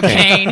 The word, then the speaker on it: Kane: Or Kane. I don't even know how you say it. You just be honest. It's Kane.